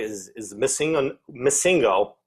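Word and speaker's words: MissingNo.: Missingo, or at least that's how I grew up pronouncing it, but missing number is how it's spelled.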